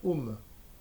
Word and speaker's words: ohm: avec le la lettre grecque omega mais on prononce tout le temps home c'est la résistance alors on va voir comment